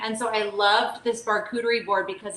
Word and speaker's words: Barkuterie: It's a Barkuterie board.